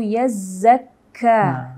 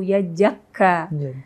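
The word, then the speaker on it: يَزَّكَّى: Untuk pelafalan huruf zal dan zai itu biasanya banyak yang tertukar ya Bib ya. Tertukar dengan huruf jim, bahkan misal kayak tadi wa ma yudrika la'allahu yajakka. Ini juga sama, banyak juga yang tertukar dengan huruf jim.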